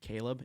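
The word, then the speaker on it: Kalob: Media stuff you can connect on me with Caleb it's just at Kayla but the L is a one and my name is spelled a little bit differently k-a-l-o-b so my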